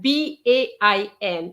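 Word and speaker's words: bain: the same mistake okay the pronunciation of ben b-a-i-n is ba okay if you can remember the word pan which is bread pan so instead of having per you change the p to a b and that gives you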